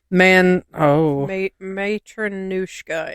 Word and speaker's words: Matronushka: Matronushka. It's said the way that it's spelled.